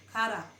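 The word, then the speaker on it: χαρά: Tulisnya C-H-A-R-A. Kara. Bacanya kara, cara.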